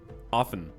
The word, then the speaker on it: often: I skip that word I refuse to believe anyone pronounces the T in often if you do you're